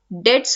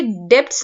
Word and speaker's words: debts: One thing that I would like to mention, ये DEBTS है, उससे डेब्ट्स नहीं प्रोनाउंस करते हैं, इसे हम डेट्स प्रोनाउंस करते हैं। बहुत सारे लोग इसमें मिस्टेक करते हैं, इट इज डेट्स, ठीक है। बी साइलेंट रहता है बेसिकली।